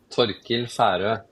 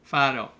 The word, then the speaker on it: Torkil Faero: If you will say it again in Norwegian, I love it. Torkil Faero. Fado, right? And I didn't say it right.